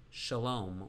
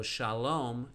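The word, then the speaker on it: שלום: sound for sarah sarah so shalom uses a vove for the o sound by putting a dot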